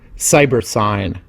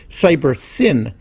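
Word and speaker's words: Cybersyn: the system was termed cyber sign or perhaps more accurately should be pronounced cyber sin as it stood for cybernetic synthesis in this case the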